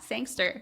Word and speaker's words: Sangster: Did I pronounce that right? Yeah. Sangster.